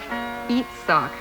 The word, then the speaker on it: Itzhak: My name is Itzhak, pronounced Eatsock. Pretty. I wish you could come to my country so I could show you my big kibbutz. See the enclosed picture. Sorry, Eatsock, but I left my magnifying glass at home.